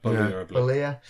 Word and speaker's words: Bollea: The story of Terry Jean Bollea? Is that how you say his name? That is Hulk Hogan's real name. Bollea.